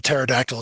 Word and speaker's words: pterodactyl: Um, what's the reason why we never know if a pterodactyl is going to the bathroom? It's because the P is silent.